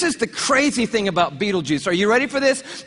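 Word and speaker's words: Betelgeuse: heard about this star it's called Beetle Gees or beetle be juice you can pick your pronunciation I'm obviously going with Beetle Juice and Beetle Juice is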